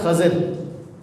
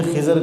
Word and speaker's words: خضر: نے انہیں سلام کیا۔ اصل اس لفظ کی جو تلفظ ہے وہ ہے خضر۔ کیا ہے؟ خضر۔ خا کے اوپر زبر ہے، ضاد کے نیچے زیر ہے، لیکن عرف عام میں ہماری اردو زبان میں خضر کہا جاتا ہے۔ میں وضاحت اس لیے